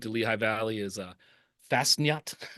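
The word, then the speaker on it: Fastnacht: as a salute to Lehigh Valley is uh Fasnot. The the Fosnuts. Fasnuts.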